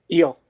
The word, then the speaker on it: Yule: one flea captain yule is that how you pronounce it how do you pronounce your last name eel yeah i i was